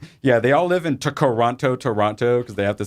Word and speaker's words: Toronto: me chado pronounces it Toronto he's he's the that second T he says is silent and he's from Toronto Toronto I would say Toronto but he says Toronto